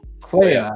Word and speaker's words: Clea: Clea. I knew that because It rhymes with Leia, and she looks like Leia. the dude keeps saying Leia, and it fucks with me. It So- fucks with everyone. Clea is like, we're looking for Andor.